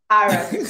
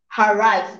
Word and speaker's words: Aras: Aras Foundation. You're making it sound as if harass.